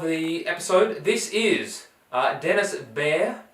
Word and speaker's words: Behr: This is Denis BEHR. Is that how you say it? BEHR? Yeah, I believe so. He's a bear.